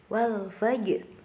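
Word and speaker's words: والفجر: Kemudian ada qalqalah sughra di situ karena terdapat huruf qalqalah jim yang sukunya itu asli. Jadi dibacanya memantul. Wal fajr. Kemudian ini harus perhatikan, terdapat huruf ro di situ. Jadi, ketika ada huruf ro sukun atau ro yang dibaca sukun, kemudian sebelumnya itu didahului dengan huruf yang berharokat fathah, maka dia menjadi tebal atau disebut dengan ro tafkhim, maka dibacanya wal fajr.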